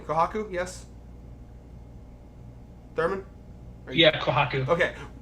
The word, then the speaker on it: Kohaku: I always forget how to pronounce her name. Kohaku, yes.